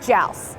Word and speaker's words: Joust: name wrong so joust it's like a house with a J house even where we